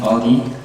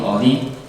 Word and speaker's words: Audi: You might be wondering, Team Audi, where does that name come from? I don't know. Well, it's pronounced just like the Korean word "odi" meaning where.